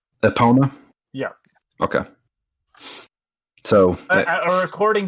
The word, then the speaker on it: Epona: they call it mario hey mario it's it's epona epona yeah okay so uh according to this woman